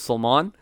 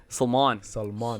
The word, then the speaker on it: Salman: So everybody knows me as Salman Khan, but it's pronounced Salman.